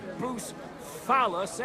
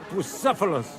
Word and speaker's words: Bucephalus: What kind of name is Bucephilus, anyway? It's pronounced Bucephalus, Ishka. See now, just mispronounce the name, and we're not talking about a horse, but a cock.